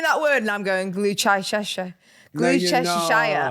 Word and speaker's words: Gloucestershire: Gloucestershire. Gloucestershire. It's like Worcestershire.